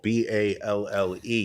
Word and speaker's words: ball: The second E is silent just like at the end of ball, B-A-L-L-E. You pronounce that ball.